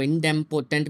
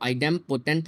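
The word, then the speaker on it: idempotent: कुछ लोग इसको इनडेम्पोटेंट भी बोल रहे होते हैं, प्रोनाउंसिएशन गलत कर रहे होते हैं, ठीक है। सो इसको आइडेम्पोटेंट लॉस हम अगर कहें, ठीक है, तो इसको हम कैसे करेंगे।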